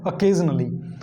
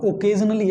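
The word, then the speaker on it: occasionally: और शब्द है यूजुअली के जैसा, वो है ओकेजनली। पहली तो बात दोस्तों, इसको कभी भी ओकेजनली मत बोलना, ओकेजनली एक गलत प्रोनाउंसिएशन है।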